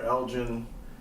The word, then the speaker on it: Elgin: to spell it, if you prefer EJ or Elgin, how old you are, what you do.